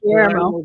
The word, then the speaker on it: Guillermo: Guillermo. Thank you. Guillermo.